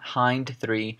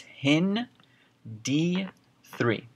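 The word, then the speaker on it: HindIII: labeled and written out like this but it's pronounced not hind three it's actually pronounced hin D3 okay that's how you say it so Hindi 3 Let's see what it does Hindi 3 as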